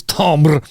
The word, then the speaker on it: timbre: um placements of the sound that leads to Timbre or tambra becoming predict the correct pronunciation is Tom bro laughs and yeah sometimes you'll get a sound